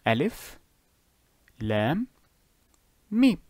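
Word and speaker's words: ألم: You would pronounce each letter individually. Alif, Lam, Mim.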